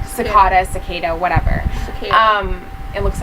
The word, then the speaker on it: Cicada: Kakata, I think is how you say Cicada. Cicada, whatever. Cicada. It looks like Kakata.